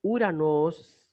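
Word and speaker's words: Οὐρανός: Entonces, Uranos se va a transliterar Uranos, exactamente una U, una R, una A, una N, una O y una S, Uranos.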